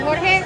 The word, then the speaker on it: Jorge: Okay, so this is George. I mean, in the Spanish spelling, you pronounce it Jorge.